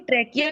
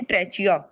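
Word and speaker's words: trachea: फेरिंग से जब ऑक्सीजन निकलती है ना, तो वो चली जाती है ट्रैकिया के अंदर। लेट me just right ट्रैकिया, इसके स्पेलिंग ऐसे जैसे ट्रैचिया, बट हाउ डू we pronounce it? ट्रेकिया।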